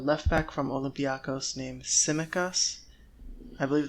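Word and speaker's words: Tsimikas: back from olympiakos named simekas i believe the t is silent in greek yeah so he is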